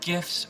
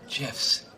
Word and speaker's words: GIF: internet are they called gifs or gifs well the G stands for graphics that's a hard G so I say GIF what the guy who invented it says it's GIF I'm sorry do you